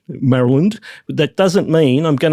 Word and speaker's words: Maryland: know, I thought it's about time I start pronouncing it correctly, which is Maryland. Maryland.